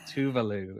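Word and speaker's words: Tove Lo: Tovlo. Tovlo Oh, is like the Americanized way we all say okay. it. And then I believe the Swedish version is like Tuvalu or something.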